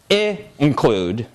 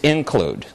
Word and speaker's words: include: There's a little pause right here. It's not include. It's not include. It's include.